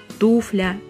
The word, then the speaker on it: туфля: конечно же не существует ударение в этом слове ставится на первый слог и вариативность не предполагается туфля туфлями а туфлях говорим только так и никак иначе и Да в родительном падеже говорим нет туфель вариант туфлей разговорной неологизм